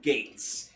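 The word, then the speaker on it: Geiz: But no, so yeah, even though it's spelled like that, it's still pronounced Gates.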